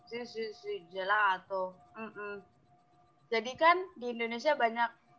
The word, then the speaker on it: gelato: Sì, gelato. Jadi kan di Indonesia banyak, di Surabaya, di Jakarta, di Bali, Jogja, es krim Itali. Tulisannya kan pakai G. Tapi kebanyakan orang Indonesia ngomongnya gelato. Nah, harusnya Sì. gelato.